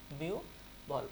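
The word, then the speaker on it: বিহ্বল: আবার এখানে যদি আমরা দেখি হ বয়ের আগে কি আছে? রস্বই বা রস্য আছে, এই যে বিহুবল শব্দটা, এই যে, তাহলে এখানে কি হবে? বিউ ভল। ওকে, তাহলে এখানে উচ্চারণ হচ্ছে কোনটা? উত্তর হচ্ছে আমাদের এটা হবে না, এটা হবে না, এটা হবে না, উত্তর হবে বিউ বল।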